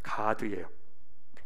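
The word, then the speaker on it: גָּד: 그래서 이 뒤질세라 몸종 실바를 남편한테 주어서 그 실바를 통해서 두 아들을 얻는데, 가드예요. 원래 발음은 가드, 다른 하나는 아셀입니다.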